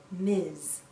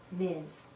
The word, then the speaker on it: Ms: we pronounce this as miz miz sounds like a z at the end miz a woman can choose